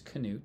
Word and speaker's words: Knut: A Knute himself and his name is Knute just pronounced the K and Knute in Norway and his sister uh